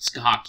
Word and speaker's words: Scathach: And yes, the name is pronounced Scathach, even though the way it's written.